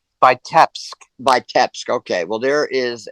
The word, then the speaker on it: Vitebsk: You mentioned Vitebsk as one of the strong point cities. I mean, you sort of massacred the pronunciation of it a little bit, and I don't blame you for that.